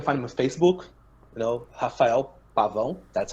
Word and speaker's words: Pavão: Rafael Pavao. That's how you pronounce.